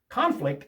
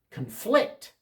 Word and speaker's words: conflict: Conflict. The first syllable is stressed. Conflict is a noun. When two people don't agree on something, they have a conflict with each other. Conflict. Conflict. The accent on the second syllable, that's the verb.